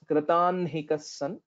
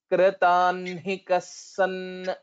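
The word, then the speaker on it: कृताह्निकः: word is kritanhikas so first we will have to tell na and then ha Nilima please repeat after me तस्मिन् स विश्रम्य तस्मिन् स विश्रम्य तस्मिन् स विश्रम्य कृतान्हिकस्सन् कृतान्हिकस्सन् कृतान्हिकस्सन् again so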